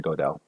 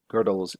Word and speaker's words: Gödel: I keep on saying Gödel. It's actually pronounced Gödel, and I know that.